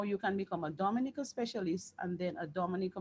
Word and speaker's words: Dominica: so moving along um Dominica and it is pronounced Dom so for continuation we say Dominica that's the official name which is the Commonwealth